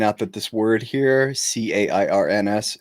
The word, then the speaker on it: Cairns: that this word here, CAIRNS, in America, we would call that Karens, but in Australia, you'd pronounce it like cans. So I will be saying it the proper Australian way.